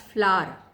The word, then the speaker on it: flour: फ्लावर बोलते हैं उसको, कई लोग फ्लावर बोलते हैं, कई लोग उसको फ्लोर तक बोलते हैं, which is wrong. Okay, फ्लावर वो बोल सकते हैं. Spelling is FLOUR. लिखा होता है कि आटा पीसने की चक्की पे फ्लोर mill, that is wrong. FLOUR, that's फ्लावर. Alright, सो आटा है.